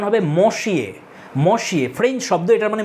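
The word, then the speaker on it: Messieurs: দেবে তোমাকে এটাসার হবে আর এই যে শব্দটা মশিয়ে এটার প্লুরাল হচ্ছে মেশি এরকম উচ্চারণ হয় এবার বানানটা কি হবে দেখ এমযে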